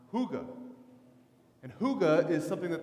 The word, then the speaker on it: hygge: it that it's called hooga hooga it's actually spelled in English hy g ee looks like hiking but it's pronounced hygge and hygge is something